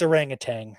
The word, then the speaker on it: orangutan: There is a t sound on the end of that word.